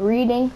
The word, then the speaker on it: Reading: I'm from Reading, PA, dude. Yes, sir. I live right outside of Philly, in Reading. You be seeing that little place that is spelled Reading, but it's called Reading.